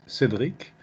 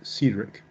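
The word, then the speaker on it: Cédric: I'm French, so the pronunciation is Cedric. Cedric. But okay. if you want to pronounce it in English, it's Cedric. Oh, thank you.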